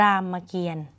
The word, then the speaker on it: รามเกียรติ์: ตก ใจ นะ คะ คำ นี้ ค่ะ อ่าน ว่า รามเกียรติ์ นะ คะ เวลา อ่าน อ่าน เป็น แยก คำ ว่า ยัง ไง หรอ คะ รอ อา ม ราม คำ ว่า เกรียน จริง ๆ แล้ว ถ้า ไม่ มี ทัณฑฆาต เนอะ ก็ คือ คำ